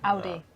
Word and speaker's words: Audi: How do you pronounce Audi? Is it In German, it's Audi. Audi?